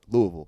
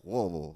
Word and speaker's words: Louisville: Actually, the more you say it, the more slur it gets. Like Yeah, it gets worse, right? From really people that are in Kentucky. It's like Louisville.